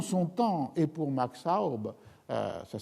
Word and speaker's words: Aub: On trouve les témoignages recueillis par Max Aub avec des contemporains de Campalans.